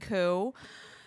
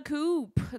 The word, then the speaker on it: coup: to find out that you don't pronounce the pee and ku that was a really rude i was going up to my friends being like oh my god what a coop they all were like